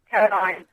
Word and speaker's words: Caroline: Caroline. What's the difference? It's spelled differently.